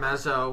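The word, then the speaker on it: Mazeau: I'm pronouncing that right Mazo Mazo okay Mazo there's use in there but don't pronounce it apparently has been in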